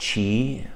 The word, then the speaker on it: Qi: with these two ancient practices Qi Gong is pronounced Chi as at CH I and Gong run me